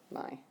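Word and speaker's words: Mai: my okay and that's me but it's just pronounced my just in case okay this one is pronounced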